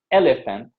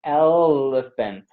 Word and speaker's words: elephant: much longer much longer so it's not elephant is elephant yes it stays there much much much longer elephant and if you